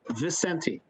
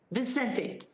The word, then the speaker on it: Vicente: get your name right i was pronouncing it like nando and that's not how it's pronounced can you tell me it's just simply vicente vicente counselor vicente would you